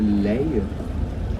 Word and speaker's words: Leie: Now in Dutch we call the Lys the Leie. That's very hard to pronounce for English-speaking people.